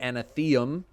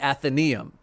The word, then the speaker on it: Athenaeum: want in this area the anatheum no that's not the I forget how to say it athenium athenium you'll activate and deactivate which ones you want in this area the athenium athenium athenium yeah I was right in this area the Athenaeum during week one you